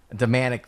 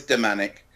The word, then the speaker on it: Damanek: what you like okay because I've always heard Domanick because we had seen we had met up